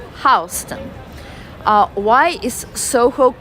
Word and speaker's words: Houston: Houston is spelled same way as Houston, Houston, but it's read differently. It's read as Houston.